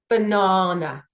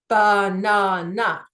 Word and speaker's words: banana: Banana. So I do not say banana. I say banana. So here, the emphasis is on the second syllable.